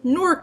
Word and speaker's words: Newark: is I'm from Jersey norc to be specific Sheila hits one syllable not two I can tell you're